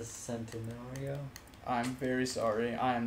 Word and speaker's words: Centenario: I'm going to be using the Lamborghini Centaurio. Ooh. It's the bad bitch of this game. The bad bitch? It's actually pronounced the Centenario.